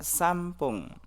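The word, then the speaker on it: さんぷん: Untuk menit 1 itu dibacanya ipung. Menit kedua nifung. Menit ketiga sampung.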